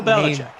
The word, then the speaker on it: Belichick: If anything, we know who the cheater is in that organization, and Bill Belichick. His name rhymes with Will Schmelichek.